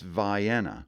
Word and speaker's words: Vienna: Now, here in Maine, it's Vienna. True story that. Many Mainers didn't even know that. Mostly because folks from St. Agathe, Sanford, and Eastport haven't passed that way, but it is Vienna, not Vienna.